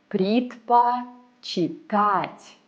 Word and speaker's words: предпочитать: This verb might seem difficult to read. But look, it consists of the verb читать and a little extra. Предпочитать.